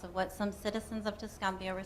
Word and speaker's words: Tuscumbia: Tuscumbia, Alabama.